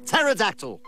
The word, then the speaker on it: pterodactyl: dyspepsia d-y-s-p-e-p-s-i-a flagellum f-l-a-g-e-l-l-u-m pterodactyl p t e r o d a c t y l wow silent p baby so i'm in uh